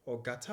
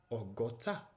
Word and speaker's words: ogo ta: You see, that word or gata or gauta or alaaru ape. That is not the correct way to say it. It is ogota, ogota, owo alaaru ape. That is how we say it. That is how it should be.